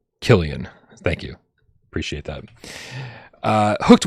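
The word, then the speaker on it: Cillian: He says it's pronounced Killian.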